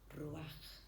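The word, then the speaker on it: רוח: Y en hebreo se pronuncia ruaj.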